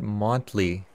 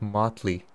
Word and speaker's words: motley: do that now because i always pronounce it monthly when it's motley so that's my fault